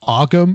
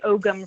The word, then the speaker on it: Ogham: But yeah, and I'll say Ogam for now, just because it's spelled Ogham, the Ogam alphabet.